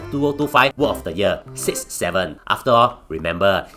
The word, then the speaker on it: 6-7: Now, note that it's always pronounced 6-7 and not 67.